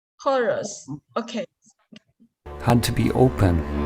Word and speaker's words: Horus: Oh yeah, the eye of orange. 这个 orange is Yeah, pronounced listen to orange. it. Yeah, I think we can listen to it. Yeah, listen carefully. The Eye of Horus Horus. Horus.